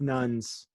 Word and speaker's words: Nunn: Is it Nunn or Noon? Well, I'm going to say Nunn, because there was a great former middleweight boxer by the name of Michael Nunn, and his name is spelled N-U-N-N. So I'm going to say then we'll go Nunn. then we'll go with Nunn.